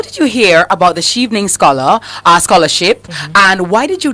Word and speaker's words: Chevening: So, how did you hear about the Chevening Scholarship, and why did you decide to apply?